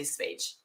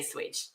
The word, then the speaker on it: Schweiz: I'm just going to say Schweiz. Okay, I'm going to say Schweiz because that's how you say it in Sweden.